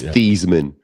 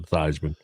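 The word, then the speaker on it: Theismann: Your boy Joe Thyman, remember he changed the pronunciation of his name so it could rhyme with Heisman? Yeah, that's pretty cool. It's Theman.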